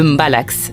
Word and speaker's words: mbalax: Un style tout particulier retient notre attention, le mbalax, prononcé mbala.